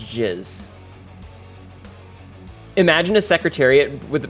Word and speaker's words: jizz: It's pronounced jizz.